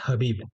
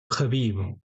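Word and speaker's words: Khabib: दगिस्तान तो वहां भी एश को प्रोनाउंस नहीं किया जाता है ठीक है तु लोग इसे साइलेंट नहीं करते जैसे फ्रेंच में साइलेंट कर देते हैं ए को लेकिन यहां पर साइलेंट नहीं किया जाता है बल्कि इसके आगे के लगा दिया जाता है तो हबीब का क्या हो गया खबीब ठीक है अब वो इसी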